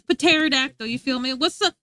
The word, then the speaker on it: pterodactyl: The P is there for no reason. Who says pterodactyl?